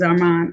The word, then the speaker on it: Arman: you're welcome Arman how you pronounce your first name Mr you said it right Arman it is Arman okay now calling the